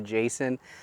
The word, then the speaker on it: Jasion: Again, this is the Jasion, if you pronounced it as it's spelled. I've heard some people call it the Jason, but regardless of how you pronounce it, it's a fantastic little foldable bike.